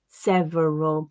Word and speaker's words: several: every favorite several and there are places where all speakers might read them with that additional syllable but as i said they tend to be reduced to average every favorite several and that's the pattern that i would encourage you to practice them at so we'll listen again